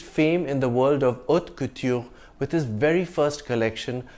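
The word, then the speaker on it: haute couture: High fashion in French the H is silent and the t is soft in French so it's not hot Couture also you don't pronounce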